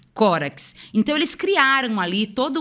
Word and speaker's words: Córax: da retórica, que era Tísias e Corax, ou Córax. Vamos ler como se escreve, né? Córax.